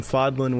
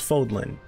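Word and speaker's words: Fódlan: ryu it's fire um fodlin wins foldlin wins it's foldlin because that's how they pronounce the game and um fodlin foldlin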